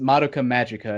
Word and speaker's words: Madoka Magica: phone because i don't know it's usually pronounced pronounced madoka magicka is what a lot of people pronounce it